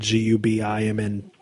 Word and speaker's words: government: and like for the listeners, it's government cheese, but like we pronounce that government GUBIMNT, and it used to, for folks that were on like now it's called SNAP, used to be called like welfare.